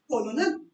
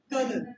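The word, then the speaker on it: colonel: Next word is कोलोनल, spelling से तो ये लग रहा है, बट इट्स कर्नल, प्रोनाउंसिएशन क्या होगी?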